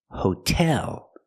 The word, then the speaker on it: hotel: Not hotel, but hotel. Put the stress on the second syllable.